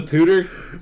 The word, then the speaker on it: Poudre: Because, for the listener at home, if you haven't found this out by now, it's spelled Poudre. Yeah, Pooter. It's French for powder.